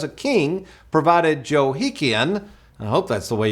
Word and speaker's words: Jehoiakim: verse 30, where it says a king provided Jehoiakim, I hope that's the way you pronounce that. It's pronounced Jehoiakim, dude.